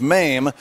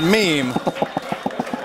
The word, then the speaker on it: Mame: It was a touring bus and truck production of MAME, but there was this weird Polish lady, and she kept pronouncing it meme.